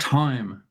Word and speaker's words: thyme: In my herb garden, I have parsley, dill, basil, and thyme. Yeah. Okay. Yeah, the H is silent there.